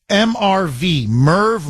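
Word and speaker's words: MIRV: was a Hypersonic midrange it's pronounced MV mrv Merve multiple re-entry vehicle that releases several smaller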